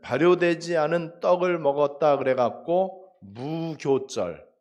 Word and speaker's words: 무교절: 않은 떡을 먹었다 그래갖고 무교절 무 없을 묻자 교는 원래 발효할 때 효자인데 교로 발음을 해요 무교절 이렇게 얘기합니다 그래서